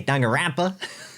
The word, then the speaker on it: Danganronpa: I love how you say Danganronpa. I don't know how you pronounce it. How it's spelled. How do you pronounce it? How it's spelt. Danganronpa. Dan can Ronpa.